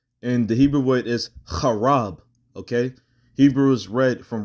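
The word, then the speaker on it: חרב: You wouldn't pronounce it Charabah. You would pronounce it Chaarab.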